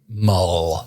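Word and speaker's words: Mawle: we've gotten Joseph Molly I don't know how you pronounce that last name it's like m-a-u-l-e mole mole what show was it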